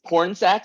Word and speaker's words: Pornsak: I have Okay um is how do you pronounce it uh okay it's porn sex that's pretty much how it sounds and then